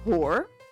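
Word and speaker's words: hoor: There's a word in Dutch, it's spelled H-O-O-R. You pronounce it whore.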